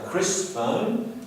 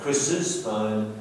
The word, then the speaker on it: Chris's: We don't say Chris' phone, we say Chris's phone, meaning the phone that belongs to Chris.